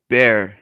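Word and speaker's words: Bexar: in person what what san antonio's counties called bear and it's spelled b-e-x-a-r jesus christ why um all right bear county i would just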